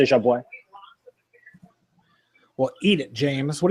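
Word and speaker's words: Jabouin: He does not pronounce it jab. He pronounces it something close to jabo.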